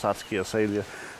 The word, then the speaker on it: satsuki azalea: a or satsuki a sadie but it is pronounced satsuki azalea and satsuki means the fifth month and that's